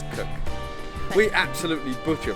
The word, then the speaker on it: Krk: it's Krk. We absolutely butcher pronunciations, by the way.